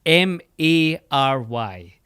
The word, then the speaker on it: Mary: Well, I think it's M A R Y, which in the United States of America, most people pronounce like your name in Lord of the Rings.